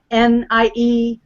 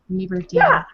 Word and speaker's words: Nieberding: It's like the Mickey Mouse Club song, Nieberding, Nieberding. Oh, I said it wrong. That's why you're laughing. Nieberding.